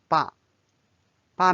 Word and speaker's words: 爸爸: Notice when you repeat, so the second time it becomes like the fifth tone or the neutral tone. There is no tone symbol.